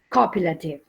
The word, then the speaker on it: copulative: to be yes copulative remember that the stress is on the first syllable copulative good what else did you